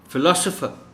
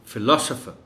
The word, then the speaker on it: philosopher: Philosopher, इस word में जो L है उस पर स्ट्रेस है. Philosopher.